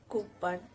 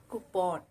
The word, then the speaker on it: coupon: It's not coupon, it's coupon.